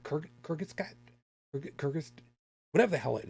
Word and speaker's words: Kurzgesagt: the oh God, how the hell is it pronounced? Kurzgesagt? Kurgis, whatever the hell it is over on YouTube. Shit, there's a Yeah, I know their channel. Actually do. I don't remember. Kurzgesagt.